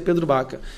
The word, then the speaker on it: Pedro Vaca: E nosso gabinete está em contato direto com o grupo do Pedro Baca, com assessores do Pedro Vaca, mas pronuncia Pedro Baca.